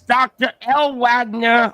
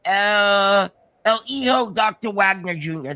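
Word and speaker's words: El Hijo del Dr. Wagner Jr.: That's Dr. L. Wagner. I think, how do you say it? El Hijo Dr. Wagner Jr. That's how you say it. I said it wrong the first time.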